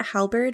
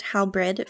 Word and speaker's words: halberd: use the Executioner sword I thought that halberd was pronounced how bread for like the past several years so fun fact about me I just learned how to correctly spell it and pronounce it so there you go